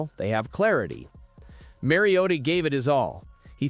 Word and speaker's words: Mariota: Throughout his 11-year career, he has always been Mary O Ta. There was some confusion about whether it was Mario or Mario, but the final syllable was never emphasized until Sunday Night Football when he suddenly became Mario Ta. Somewhere, Hermione Granger is seething with rage. Apparently, that's how it's supposed to be.